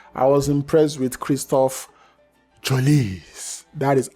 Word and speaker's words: Trossard: I was impressed with Kristoff Trossard. That is how you pronounce his name.